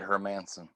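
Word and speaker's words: Hermansson: manson yeah they yeah they literally say it her manson did they spell it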